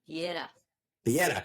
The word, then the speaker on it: Piera: Piera.